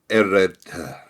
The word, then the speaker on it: Ered: Ered, Ered, sire. It's like a sigh on the end, but yeah, but we